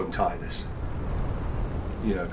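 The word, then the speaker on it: Tidus: Oh, it should absolutely go without saying uh that we are going to call him Titus. you know, like canonically, I believe the name is Tedus because of, you know, the the spelling in in I don't know.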